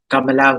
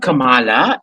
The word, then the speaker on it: Kamala: pronounce her name properly it's not kamala it's kamala she can't even pronounce